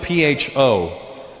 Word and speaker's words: pho: It's spelled P-H-O.